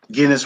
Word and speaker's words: Guinness: Guinness with a hard G.